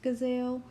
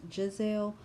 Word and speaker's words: Gizelle: And yes, I called her Gizelle because she spells her name with a G, and it kind of looks like it's pronounced Gazelle, but it's pronounced Giselle.